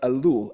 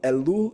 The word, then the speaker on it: Elul: of Yeshua so this is the month of elul elul is the sixth month on the Hebrew calendar it's spelled e l l elul elul and it